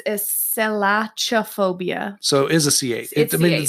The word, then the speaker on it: Selachophobia: is it Chuck or cut it's it's a Sailaja phobia so is a CA it just pronounced and sank that's not cut because I